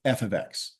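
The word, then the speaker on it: f(x): out the Y with f ofx this is pronounced as F ofx and this has some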